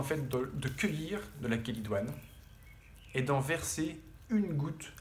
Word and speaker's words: chélidoine: chélidoine ça s'écrit celle idoine mais ça se prononce chélidoine c'est une petite fleur qui pousse partout dans